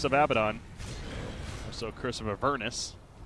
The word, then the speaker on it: Avernus: Also, Curse of Avernus. Is it Avernus or Avernus? I pronounce it Avernus. I've heard it pronounced Avernus, though.